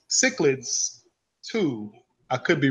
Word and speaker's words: cichlids: But the people who are just into it, if you see the word, mm-hmm. and you pronounce it chicklets. All right. It's not. It's cichlids. All right.